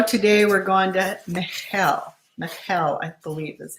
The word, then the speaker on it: Michal: Michal, I believe is how you say it.